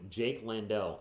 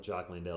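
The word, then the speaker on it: Jock Landale: The Utah announcers kept calling him Jake Landell. And I understand messing up a player's name, but it's like they weren't even trying with Jock Landell. It's like it's spelled like Jock, like you're a sports athlete.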